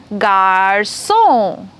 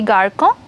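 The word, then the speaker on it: garçon: have a look here Garson did I pronounce this incorrect it should be garco really no it shouldn't be why I'll tell you what you see this C has a little upside down C under that it's called ceday and the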